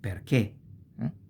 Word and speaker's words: perché: And same thing with perché. Perché with this accent, because the e is pronounced closed. It's not perché, ma è perché.